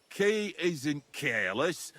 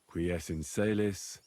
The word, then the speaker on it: qui es in caelis: You're saying it wrong. Listen. It goes like this. Pater Noster, qui es in caelis, sanctificetur nomen tuum.